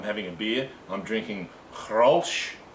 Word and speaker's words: Grolsch: I'm drinking Grolsch. That's the proper pronunciation. Right, it's a Dutch beer. It's from the Netherlands. All right, it's not pronounced. It's spelt Grolsch, but they don't pronounce it Grolsch.